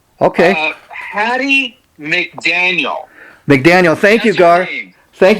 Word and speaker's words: Hattie McDaniel: Well, let's give her, her the proper pronunciation. Okay. Hattie McDaniel. McDaniel, thank you, Gar. Thank you. Hattie McDaniel.